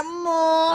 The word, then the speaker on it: Moe: Itu ini Moe. Ya dibacanya mu.